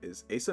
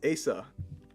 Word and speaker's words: Asa: I included the pronunciation on the screen because I'm tired of hearing Asa, Isa. It's like this. People are making stuff up as they go. My name is Asa. Pronounced Asa.